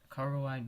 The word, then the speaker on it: Coraline: Coraline, right?